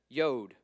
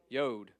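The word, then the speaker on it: יוד: ISS Tate so it's t then you got yod yod and it's just a little little tick like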